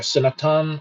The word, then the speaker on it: Sanatana: like half the time they don't even say that A at the end there, so they just say Sanatan instead of Sanatana.